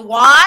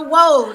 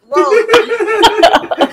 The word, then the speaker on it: WOAD: But even now, people still have problems pronouncing it because they say, oh, it's the WOD. I'm like, no, it's the WOAD. It's like road with a W, just WOAD.